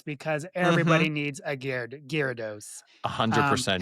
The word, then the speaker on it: Gyarados: everybody needs a Gyarados.